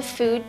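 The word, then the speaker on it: Phood: So the food pharmacy, it's spelled P-H-O-O-D and then pharmacy. And I sort of thought of that because I want the food to be the medicine instead of prescription drugs.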